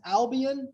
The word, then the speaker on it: Albion: Small town, is it pronounced Albion?